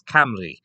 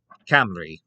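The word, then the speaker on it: Cymry: They preferred to refer to themselves as Camry, or it looks entirely different when you spell it, but Camry is what they would refer to themselves as.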